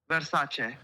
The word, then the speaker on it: Versace: Versace. Uh, you've been letting me mispronounce it the entire time.